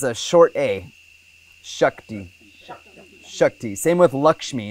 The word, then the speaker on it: Lakshmi: short a same with Lakshmi it's like lucky Lakshmi people say Lakshmi it's incorrect Lakshmi Shanti is a long